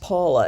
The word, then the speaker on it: Paola: a o l a looks like poola but it's pronounced Paula and I noticed it's